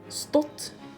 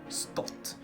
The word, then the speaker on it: stått: is wrong but yeah spot versus stool you heard here how this is longer than this one store spot store and then we have